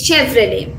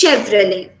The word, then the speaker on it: Chevrolet: the correct pronunciation is chevrolet the t sound is silent that's all and the e sound must be stressed it's chevrolet it's not chevrolet it's chevrolet this one uh this